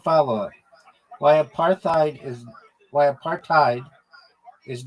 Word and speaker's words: apartheid: partid is not pronounced aparthadid because it's not an English word originally it comes from Africans And in that language, hide is pronounced like hate or height, not head or id.